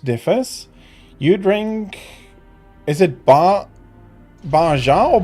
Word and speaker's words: Baja: It's pronounced Baja, okay.